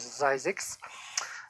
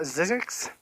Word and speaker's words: Zzyzx: That is the road on the way to California, the ZZYZX, and that is how you say that is Zyzix. It is not Zizix.